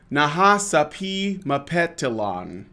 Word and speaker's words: Nahasapeemapetilon: it's not just a poo it's a poo Nahasapeemapetilon that's his full name okay and it's spelt exactly as it sounds yes so and